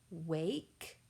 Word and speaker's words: wake: The next picture is a picture of a little girl who is about to wake up. Wake. Please finger stretch. Wake. W-A-K. Wake. W-A-K. With that silent E that is not pronounced.